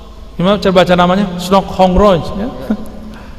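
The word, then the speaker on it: Hurgronje: Snok Hongroj, ya. Nggak pakai H itu, bacanya Ong apa gimana gitu cara lafaznya. Itu pakai serban Pak, pakai turbus, mukanya kayak muka-muka orang Turki.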